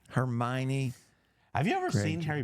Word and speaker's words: Hermione: school I'm sure where's potty Ron Weasley and Hermon Hermon Hermon how do you say her name hermion Hermione have you ever seen Harry Potter yes I